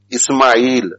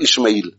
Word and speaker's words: Ismail: mention the whole name pronounce it correctly ismail not ishmael and every muslim is